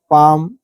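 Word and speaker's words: palm: या शांति अनुभव करना पाम इ पहले लाया है हथेली होता है बाम य पर भी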